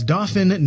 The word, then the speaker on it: Dauphin: i this is the dauphin technology dtr one and yes that's dauphin not dolphin before you say oh that's not the french pronunciation why it's not a french company it's an american one for instance we have